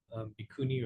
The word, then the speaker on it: bhikkhuni: For example, the nuns, bhikkhuni is how you pronounce it in Sanskrit.